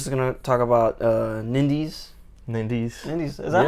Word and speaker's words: Nindies: Lewis is going to talk about Nindies. Nindies. Is that how you say it? Yeah, Nindies. Nindies, and then I'm also going to talk a